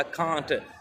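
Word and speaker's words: can't: आई कांट सी इन डैज़लिंग light. मैं चुंधिया देने वाली रोशनी में देख नहीं सकता। कांट ब्रिटिश प्रोनाउंसिएशन है कांट, अमेरिकन इसको कैंट पढ़ते हैं, ये याद रखना है।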